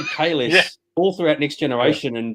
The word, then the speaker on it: Kahless: One of the things that's been brought up is the fact that Kahless is pronounced Kalesh.